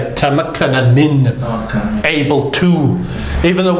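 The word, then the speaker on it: تمكن من: Tamakkana min.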